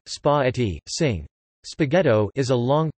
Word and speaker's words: spaghetti: Spaghetti, Italian pronunciation, spa-etti, sing.